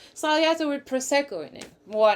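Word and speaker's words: Sbagliato: like a Negroni with I heard the Italians say Spagliato. You're not supposed to pronounce the G, I guess. Spagliato with prosecco in it.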